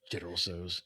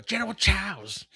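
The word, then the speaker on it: General Tso: It's like General So Yeah. Well, I mean, I always say it wrong. I I just No, that's actually that's actually correct. I just think about like my mom who says things wrong. She go General Chows.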